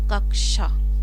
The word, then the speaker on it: कक्षा: तो यहाँ पर दोस्तों जो इसका राइट आंसर है वो है ऑप्शन सी, कक्षा।